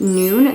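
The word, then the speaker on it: Nuun: you have electrolytes is paramount i personally recommend noon they're my favorite brand that's spelled n-u-u-n please sponsor me noon send me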